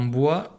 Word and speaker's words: bois: au et on regarde dans bois j'ai bien une lettre muette c'est le s à la fin certains ne l'entendent pas et lors des dictées on est obligé de l'écrire d'accord donc bois ça s'écrit bo é s ne pas oublier le s on continue à observer